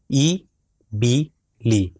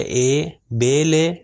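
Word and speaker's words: إِبِل: تو جتنی جگہ پر بھی کسرہ آئے گا اس چیز کا خاص خیال رکھے اپنے اذہان میں کہ اس کی ساؤنڈ ہمیشہ ای ہے.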